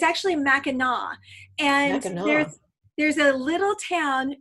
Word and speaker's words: Mackinac Island: learned of it I can't I would say Mac attack cuz I'm like that's what it looks like it looks like Mackinac Island but it's actually Mackinac and there's a little town right across the